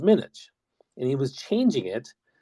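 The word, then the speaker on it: Minhaj: mispronouncing both his names it wasn't Hassan it's Hassan it wasn't Minaj it was minutes and he was changing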